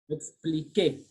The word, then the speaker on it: expliquer: Expliquer. When letter Q is for letter U, is when letter G and letter Q is for letter U is silent.